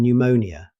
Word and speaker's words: pneumonia: The same rule applies to words like psychiatry, psychic, and pneumonia.